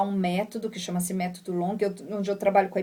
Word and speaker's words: Longhi: O Long se escreve L-O-N-G-H-I.